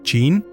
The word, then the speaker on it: Qin: La unificación bajo Chin en el 221 de Cristo fue tan fundamental que el nombre Chin, pronunciado Chin, es la raíz etimológica de China en la mayoría de idiomas occidentales.